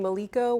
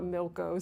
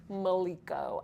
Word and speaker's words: Maliko: and I'm like, no, it's not Milko, Sophia, it's Maliko. At least I think that's how it's pronounced.